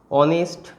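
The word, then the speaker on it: honest: একইভাবে এই যে ওয়ার্ডগুলো অনেস্ট, অনারেবল, এই ধরনের যে ওয়ার্ডগুলো, এদের উচ্চারণ, এরা এইচ দিয়ে শুরু হলেও এদের উচ্চারণটা মেনলি কী দিয়ে আসছে, ভাওয়েল উচ্চারণ, ঠিক আছে?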